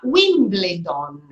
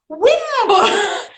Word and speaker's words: Wimbledon: Now, the Italians, you know how they pronounce that. They pronounce that Wimbledon. Wimbledon. And, at the beginning, I was like, and I could, and I would say Wimbledon. And then, after many years, finally, I heard, what? What? Wimbledon.